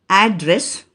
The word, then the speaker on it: address: you repeat after me a d d r e s s american pronunciation address british pronunciation address the third example v-a-s-e